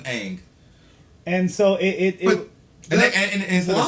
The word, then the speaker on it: Aang: Like Aang was pronounced Ong. They pronounced his name wrong on purpose, purposely, just for the movie. And no other incarnation has been pronounced Ong. It's always been Aang.